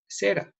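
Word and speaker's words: זֶרַע: Fíjense las letritas. Se lee Sroa, ¿sí? Pero de la misma manera, con las mismas letras que les he puesto abajo, se escribe Sera. ¿Y qué es Sera? La simiente. Solamente cambian las vocales, ¿sí?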